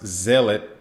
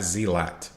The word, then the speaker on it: zealot: The correct way to pronounce zealot is the way I just said it, not zealot.